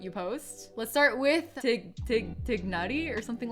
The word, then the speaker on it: Tighnari: Tighnari's name is one of the more difficult names to pronounce. In my personal opinion, I think it would be fine if it were to be pronounced as Tighnari instead of Tighnari. So that's a vowel difference.